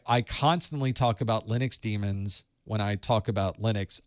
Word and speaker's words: daemon: a term that actually is demon it's actually pronounced demon but in the industry you call them either